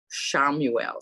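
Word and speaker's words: Chamuel: heard the name pronounce it i'm going to spell it for you claudia you probably know who this is archangel shamuelle c-h-a-m-u-e-l have you ever heard that archangel before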